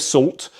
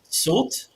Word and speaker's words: Soult: out with this, but I think it's Soult with a T is pronounced. I have heard it other ways as well, but I'm going to go with Soult in terms of pronunciation.